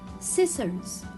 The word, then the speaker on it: scissors: comes after letter s scissors scissors i will not again read letter c because it comes after letter s ascend ascend so here